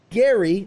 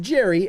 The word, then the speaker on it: Gerry: 25 years drawing professionally gary not pronounced jerry as it might seem welcome to pop